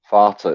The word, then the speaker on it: Vater: It happens that the V of victory in German, it is pronounced like the F.